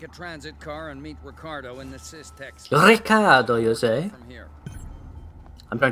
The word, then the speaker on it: Ricardo: these more take a transit car and meet ricardo in the system i'm trying to use the connect pronunciation of his name marshall weights it is